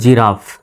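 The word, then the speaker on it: giraffe: জির পরে আই আছে, সুতরাং জির উচ্চারণ জ্বর মতো, জি আই আর A double F ই, জি আই জি আর এ রা, ডাবল এফের উচ্চারণ একটা ফয় উচ্চারিত হবে আর শেষের ইর উচ্চারণ নেই। তো হয়ে গেল জিরাফ, জি আই আর A double F ই, জিরাফ।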